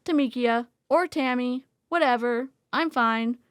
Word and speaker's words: Tamika: And then they said, "We've been saying your name wrong the whole time." And she's like, "Yes, but that's okay. It's Tamikia or Tammy, whatever.